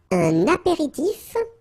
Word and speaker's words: apéritif: Okay, so let's see, that's un apéritif. So here you get the liaison between the two.